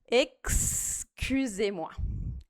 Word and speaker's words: excusez-moi: Então, excusez-moi. Para acabar, ó, o X aqui, pronúncia ainda. Esse X você vai pronunciar com som de KS, assim. Excusez-moi.